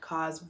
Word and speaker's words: Roc: by the way i know one video are mispronouncing cars name as per usual as i i mispronounce